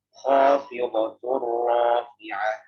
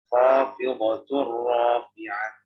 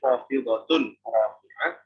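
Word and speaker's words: خافضة رافعة: Jadi bacanya khafidatur rafi'ah, khafidatur rafi'ah. Kalau nggak dibaca khafidatun rafi'ah, karena di sini tanwin ketemu huruf ra.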